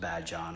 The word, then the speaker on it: Badian: It's spelled like Badian, but the locals say, tell me that it's pronounced Badyan.